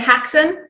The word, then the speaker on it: Haxan: How do we pronounce it? It's actually said Haxan.